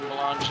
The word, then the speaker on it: Belanger: Gavin Belanger, and that's spelled like Belanger, but it is a French pronunciation.